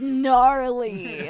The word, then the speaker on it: gnarly: refer to it as gnarly like just lean with us a silent G the silent G gnarly cuz their plans give